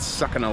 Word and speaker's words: Sukhna: moment in time at sucking a lake it may also be pronounced Suk a lake but sucking a lake sounds pretty good doesn't it we're going